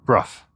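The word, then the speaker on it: Brough: And here is Bruff Castle. And I can confirm, having just spoken to a local, that it is pronounced Bruff.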